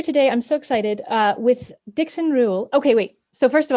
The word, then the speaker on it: Dixon Reuel: I'm so excited with Dixon Reuel. Okay, wait. So first of all, I wanted to confirm that pronunciation first.